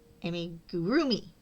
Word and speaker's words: amigurumi: Amigurumi. Amigurumi. Amigurroomi. That's it. Right. You put the emphasis on the rue.